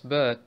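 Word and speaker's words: باء: Kommen wir dann zu Ba, ist wie im Deutschen Ba, B.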